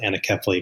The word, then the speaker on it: anencephaly: Something called anencephaly, or some pronounce it anencephaly, a condition where the brain or skull never truly forms.